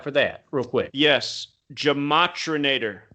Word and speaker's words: Gematrinator: Gematrinator. So kind of like the Terminator.